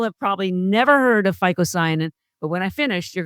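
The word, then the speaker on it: phycocyanin: But the main one is a blue one called ficoyan which is spelled with a phy. It's ph y c o c a n i n. Most people have probably never heard of ficoyanin, but when I finish, you're gonna want to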